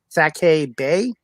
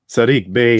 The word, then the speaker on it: Sadiq Bey: I think it's Sake Bay. Sadiq Bey, I believe. Sadiq Bey, yes. Sorry, I still got to work on pronouncing names.